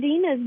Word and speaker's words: Deana: So yes, it's Deana, like two E's, but it's spelled like Dean with an A on the end. When I first saw it, I thought it was Deana too, but that was